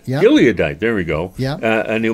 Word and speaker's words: Gileadite: Gite gadite gadite how do you say that gileadite yeah gileadite there we go and a mighty man of